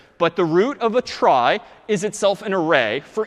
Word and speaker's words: trie: weird name and pronunciation short for retrieval pronounced try typically a try is